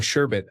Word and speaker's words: sherbet: I just realized I've been pronouncing sherbet as if it has two RS.